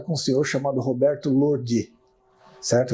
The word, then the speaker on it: Lordi: um senhor chamado Roberto Lordi, certo? Eu aprendi a pronunciar o sobrenome dele, meu amigo lá ensinou, Lordi, não é Lordi, né?